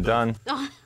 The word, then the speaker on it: Dunn: Is it Dunn? I thought it was Doom this whole time. For 3 years, I've been mispronouncing his name.